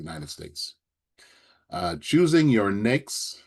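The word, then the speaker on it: NAICS: Uh, choosing your NAKES, it's it's rhymes with cakes, nakes, and UNPSC.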